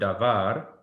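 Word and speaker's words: דָּבָר: So let's say that the word davar, it normally will have the emphasis on this syllable. through that badly, but this syllable, davar.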